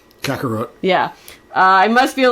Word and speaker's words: Kakarot: How did you pronounce his carrot name? Kakarot.